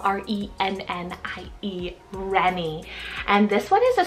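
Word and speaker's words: Rennie: absolutely anyone is the name Remy spell r-e-n-n-i-e Renny and this one is a Scottish French and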